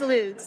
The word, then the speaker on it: Lutz: I'm Lutz, as I just mispronounced my own which name. is it? It is Lutz.